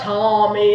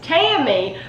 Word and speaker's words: Tammy: Tommy and it's like it's not Tommy it's Tammy but she just literally